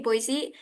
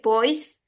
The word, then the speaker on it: Boise: I was mispronounced like I don't know how to say boisey instead of saying boisey I said boys like I'm so talking